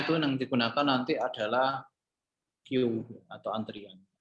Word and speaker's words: queue: Jadi di sini Mikrotik ya, Mikrotik itu memiliki fitur queue ya. Tulisannya QW ya, yang dapat bacanya queue ya, yang dapat kayak atau antrian ya, atau antrian.